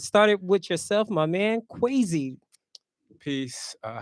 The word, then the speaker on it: Kweisi: quy qu quy quy rhymes with Tracy okay gotta you always add that Z in there I'm like but now I am quacy uh the poet brand